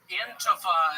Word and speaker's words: Antifa: Antifa is how it's pronounced.